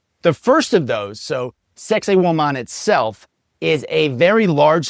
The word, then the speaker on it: Saqsaywaman: The name is Saqsaywaman. I think I'm saying that right. Yes. It kind of sounds like sexy women. I've tried to pronounce it several different times. I'm pretty sure Saqsaywaman is, is the pronunciation.